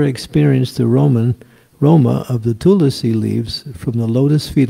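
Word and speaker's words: तुलसी: So for Tulsi, it's the easy way is just say Tulsi, T-U-L-S-I, but it's Tulasi, that's how you say it, when you spell it the long way, Tulasi.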